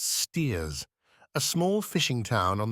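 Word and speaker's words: Staithes: saunderson a shopkeeper at stth always pronounced steers a small fishing town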